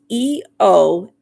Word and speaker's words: Eostre: And this one, Austria, I don't even, Estrio, Eostra, I don't even know how to pronounce it. It's Eostre.